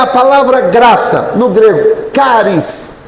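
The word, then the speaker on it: χάρις: Agora, a palavra graça vem do grego, caris, se escreve cares, mas se pronuncia caris.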